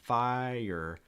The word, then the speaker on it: fire: a tricky word because when you pronounce it it almost is two syllables it's going to break into two parts fire fire fire fire under